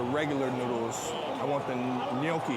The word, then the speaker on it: gnocchi: I want the gnocchi. How do you say it? Gnocchi? Ganachi.